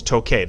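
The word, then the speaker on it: toqué: So we go back to a verb like tocar, where we saw that in the yo form, it's pronounced, it's toque.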